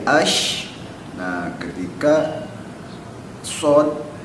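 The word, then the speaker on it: ش: Ketika sin dibacanya jadi as, ketika shin dibacanya jadi ash.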